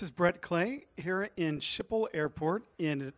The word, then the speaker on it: Schiphol: brett clay here in schiphol airport and did i pronounce that right andre almost right skipper skipper airport the difficulty okay in